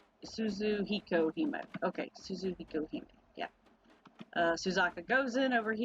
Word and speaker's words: Suzuhikohime: not limited to, Shiki, Jinkougyou, how do I pronounce his name? Jinkougyou. I don't know. I don't know. Suzuhikohime, correct? Suzuhikohime.